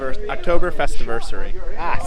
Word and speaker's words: Oktoberfestiversary: Oktoberfestiversary.